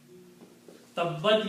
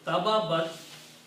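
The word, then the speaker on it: تبت: So tababat is pronounced as tabbat because when you combine two letters with a shadda, pronunciation becomes tabbat.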